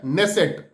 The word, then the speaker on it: Knesset: Israel के parliament का नाम है नेसेट, हालांकि उसको लिखते हैं के से, KNESSET, नेसेट, लेकिन पढ़ते हैं नेसेट, के साइलेंट होता है।